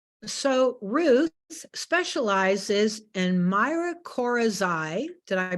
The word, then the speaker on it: mycorrhizae: So Ruth specializes in mycorrhizae. Did I pronounce that correct, Ruth? Yes, mycorrhizae. Mycorrhizae and beneficial fungi for the offices of Fungi Perfecti.